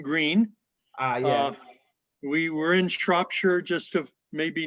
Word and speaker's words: Shropshire: I have a trouble pronouncing it, but I think it's Irish. It's English. It's English. It's Shropshire.